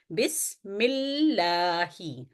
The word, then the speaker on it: بسم اللہ: آواز ٹھہرے گی اور ہم اس کو پڑھیں گے بسم اللہ، بسم اللہ، یعنی تلفظ میں ظاہر ہو کہ آپ نے لام کو 2 دفعہ پڑھا ہے۔ اس کے بعد